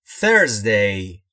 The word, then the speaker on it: Thursday: دوستان در مورد تلفظ TH در Thursday توجه بفرمایید. زمانی که میخواید TH در Thursday رو تلفظ بفرمایید و بیان بفرمایید باید زبونتون زیر یا پشت دندونهای بالا باشه و سعی میکنید بگید سه سارا که میشه Thursday.